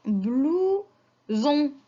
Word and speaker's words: blouson: Alors, S, quand elle est entre deux voyelles, je la prononce Z.